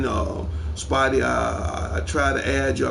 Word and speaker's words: SPYD: That is pronounced Spidey. That's SPYD _09 on PlayStation Network.